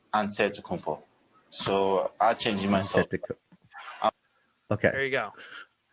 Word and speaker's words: Antetokounmpo: Way you gotta say with a D, so it's Antetokounmpo. But in the Greek way, you say with the NT, like Antetokounmpo.